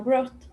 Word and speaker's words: brought: Recuerden que en brought y en thought, no suena para nada la UGHT. La GH normalmente no suena cuando tengo T a continuación.